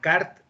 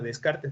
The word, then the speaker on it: Descartes: en la filosofía con el kart no descartes pues se describe pero dejar se pronuncia y rené de carl